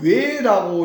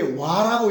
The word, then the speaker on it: 倭: 우리는 지금 외라고 읽어서 외인 그러는데 원래 이게 와라고 읽어줘야 됩니다.